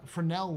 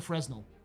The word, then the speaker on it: Fresnel: The S is silent in the LNG. Uh, it's like a camera lens. The uh Fresnel lens. Ah, okay. I'm calling it the Fresno.